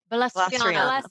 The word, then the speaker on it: Balastriana: How do you say it? Balastriana. Balastriana. Lady Balastriana. Like I'm going to blast you with my name.